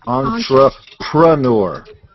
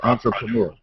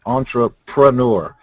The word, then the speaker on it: entrepreneur: Nobody can spell it or pronounce it. It's actually entrepreneur. Everybody says entrepreneur. Yeah, but it's actually entrepreneur.